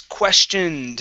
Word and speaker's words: questioned: um next up is questioned instead of question ed she questioned questioned very good uh another ed ending